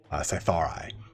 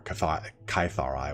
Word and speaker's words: Cytharai: And the outermost ring is reserved for the Cytharai, or Kytharai, whichever one you want to pronounce that. It's C-Y-T-H-A-R-A-I.